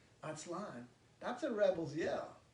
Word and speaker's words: Aztlan: Aztlan, accent on the last A, Aztlan, right?